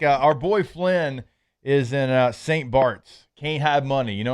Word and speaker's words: St. Barth's: But it's spelled like Barth.